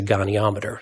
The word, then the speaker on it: goniometer: limbs, they use a angular measurement that's a goniometer.